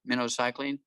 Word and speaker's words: minocycline: prescription for this um minnow cycling it's pronounced like the bait fish minnow minnow cycling they needed a six to eight week uh protocol with that minocycline i think it's like